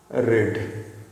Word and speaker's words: read: लेकिन जब verb to में कहेंगे ना तो इसको रीड को रेड बोलते हैं।